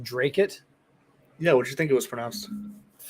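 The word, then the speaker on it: Dracut: It's pronounced Drake-it?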